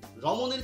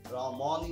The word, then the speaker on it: রমণী: রমণীর ক্ষেত্রে দেখতে পাচ্ছি পরে কি রয়েছে? দীর্ঘ ইকার। আর এই দীর্ঘ ইকারের আগে যে ম, এই মটা ম হয়ে যাচ্ছে, রমণী না, রমণী। আর দুটো বিষয় আগেই বলেছি,